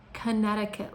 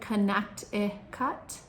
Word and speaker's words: Connecticut: Connecticut. Looks like Connect-i-cut, but we pronounce it Connecticut.